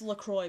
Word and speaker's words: LaCroix: quality I was doing so good - that's pronounced Lacroix by Lacroix by the way inter quad liqui